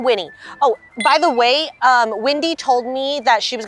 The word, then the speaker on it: Wendy: Windy, glasses, red hair. That's Wendy. Wendy, okay? Be careful how you pronounce her name.